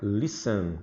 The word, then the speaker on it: listen: Olha a pronúncia listen. Esse T aqui é mudo, né? Ele não tem pronúncia.